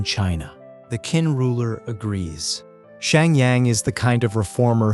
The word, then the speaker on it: Shang Yang: His name is Shang Yang, pronounced Shang Yang.